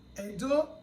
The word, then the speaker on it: Edo: Letter E that has diacritic, that letter E is pronounced as E. That's why you have Edo language. Edo is spelled as E-D-O. But the E in spelling of Edo as a word has diacritic.